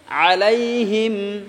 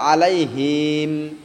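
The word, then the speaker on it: عليهم: আলাইহিম সিরাতাল্লাজিনা আনআম গাইরিল মাগদুবি আলাইহিম আলাইহিম অনেকজন কয় যে আলাইহিম এরকম টান করিও না হিম টান হবেন না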